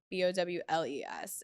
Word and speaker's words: Bowles: And Bowles is Bowles. It's like pronounced like cereal bowls, but there's an E in there. And then sometimes people confuse it and they say bowels. Yeah. And I'm like, it's LES, not ELS.